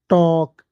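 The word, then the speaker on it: talk: यहाँ पे इस वाली लाइन में एक चीज समझना, अगर के से पहले एल आ जाए, अगर के से पहले एल आ जाए तो एल नहीं पढ़ा जाएगा। जैसे टॉक, TL के, टॉक।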